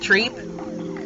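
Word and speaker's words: tripe: People will tell me, if you don't like these kind of textures, not to eat, I think it's pronounced treep.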